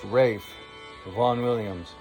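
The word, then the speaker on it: Ralph Vaughan Williams: teacher listening to vaughn williams ralph and it's pronounced rafe von williams my favorite 20th century composer i hope you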